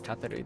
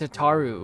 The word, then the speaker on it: Tataru: Cause as far as like what happened to the how's Tataru doing? No, her name is pronounced Tataru, which is just so much worse, respectfully.